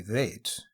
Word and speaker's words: vats: road wagon it was made in thin vats pronounced in the dairy vaids was soft and eaten